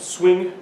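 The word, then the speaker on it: Suing: I start with Guillaume Souin, but I think it's better you pronounce it swing, because you won't be able to pronounce it, and it will not help with visibility in the US.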